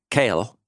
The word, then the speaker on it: Keel: was by German scholar Oar kale um though spelled like Keel Kel He has this great